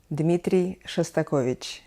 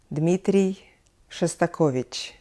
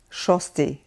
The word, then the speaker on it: Dmitri Shostakovich: name a very famous russian and soviet composer Dmitri Shostakovich Dmitri Shostakovich here I would like to take a little